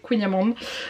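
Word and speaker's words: kouign-amann: Je sais qu'il y a une personne qui prononçait Queenyaman, mais je crois que c'est Queenyaman.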